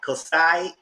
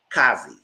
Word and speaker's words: Kazi: Kasai is, no, I say her name wrong. Kazi. Her name is Kazi.